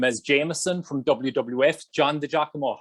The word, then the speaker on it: DiGiacomo: you know him as jameson from wwf john the giacomo how are you doing today my man oh thanks man not many people could pronounce the name that's awesome i didn't even